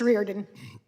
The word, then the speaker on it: Reardon: What's the right pronunciation? Thank you. It's Reardon.